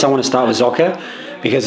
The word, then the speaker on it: Socke: So the first place I want to start with Socke, because not a lot of people will know